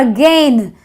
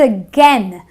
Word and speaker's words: again: a n a again it's not again I don't say I will do it again I say I will do it again a again a n